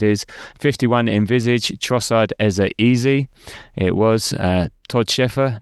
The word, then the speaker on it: Eze: Now, there's a lot of things here alluding to the fact that EZA should be pronounced easy, but uh we'll let that slide.